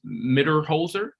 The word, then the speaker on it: Mitterholzer: And for pronunciation, your last name is pronounced Mitterholzer. Yep, that's it. Sounds awesome. It's exactly as it looks. It's just that Z scares everybody.